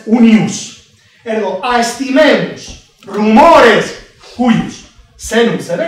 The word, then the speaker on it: unius: “valorar” “Valoremos los rumores de aquellos en un as” Aquí se pronuncia “únius assis”, suele pronunciarse “uníus” pero mejor se debe pronunciar ('ananke métrou' por necesidades métricas), se debe pronunciar “únius” “Valoremos todos los rumores” ¿de quién?